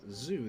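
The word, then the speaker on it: づ: Zu, pronounced as in Zu, there is no D sound for this character, and it's also the same sound as the Sa series Zu.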